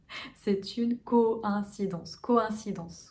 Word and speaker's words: coïncidence: O. Très fermé. Un, comme le 1. Co-1. Si. Danse comme la danse. C'est une coïncidence.